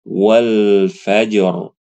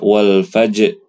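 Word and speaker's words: والفجر: juga contoh yang kedua walfajr walfaj walfajr ada huruf rnya tebal Jangan dibaca wal faaj wal faaj wal faajar wal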